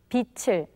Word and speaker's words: 빛을: 빚을, 빚을, 빚을, 빚을, 빛을, 빛을. Now, could you catch the rule in the pronunciations that 선생님 just made?